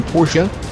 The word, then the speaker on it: Porsche: That's not really fitting for a vehicle with the Porsche moniker. Mike, excuse me. What is a Porsche? Don't you mean Porsche? No, Melvin, I mean Porsche. That's how it is properly pronounced in German.